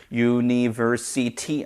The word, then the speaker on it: university: University 아니죠. uni 해서 ni도 마찬가지고요. versity 할 때 c도 마찬가지. 액센트가 없거든요. 액센트는 ver에 있습니다.